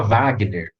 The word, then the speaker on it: Wagner: gol quis oliveira o lembra de alguém que se chama wagner wagner com w né que é de origem alemã você falar no original por alemã aí o som é de ver se a palavra original